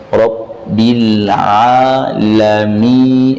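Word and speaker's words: رَبِّ الْعَالَمِينَ: Dan jangan dibaca Rabbil ngalamin. Fatal ini, merubah makna.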